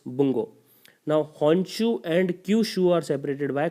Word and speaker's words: Honshu: They are Honchu, Hokkaidu, Kyushu and Shikoku. Obviously, pardon my Japanese pronunciation if anyone is hearing from there because I don't know how to pronounce them. But it's Honshu, Hokkaido, Kyushu, and Shikoku.